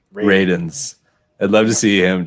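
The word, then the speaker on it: Radunz: It's pronounced Ray. It's Radins. Radins.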